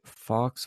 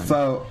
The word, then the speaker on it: faux: But Michael Cohen says Trump hired a Fox Obama, that's a Fox Obama, so a Fox Obama, during White House run. A faux Obama.